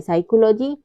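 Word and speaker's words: psychology: पे P silent है rule हमारा क्या कहता है पी के बाद यदि एस आता है तो पी हमेशा साइलेंट रहता है जैसे है साइकोलॉजी साइकेट्रिस्ट और साइकोथेरेपी इन सब में क्या है पी के बाद एस आया हुआ है तो यहां पे पी साइलेंट होगा अगला रूल है लेटर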